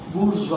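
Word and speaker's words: bourgeois: सो मैंने सब कवर किया, इसमें आम आदमी, गरीब, अमीर, गरीब और बुर्जुआ, इसे बोलेंगे, लिखा जाता है BOURGEOS, बट प्रोनाउंसिएशन है बुर्जुआ।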